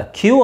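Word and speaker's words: queue: ಹಾಕಲೇಬೇಕು ಅಂದ್ರೆ ಇದರ ಅರ್ಥ ಇಲ್ಲಿ ನಿಮಗೆ ಎಷ್ಟು ವರ್ಡ್ ಸೈಲೆಂಟ್ ಆಗುತ್ತೆ ನೋಡಿ ಎಷ್ಟು ಲೆಟರ್ ಸೈಲೆಂಟ್ ಆಗುತ್ತೆ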